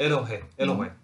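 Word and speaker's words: אֱלֹהִים: Och sen kommer Elohim. Är det inte öppet där? Kommer inte luften ut? Elohim. Det står inget. Det står ett H. Öppet. Luften kommer ut. Elohim.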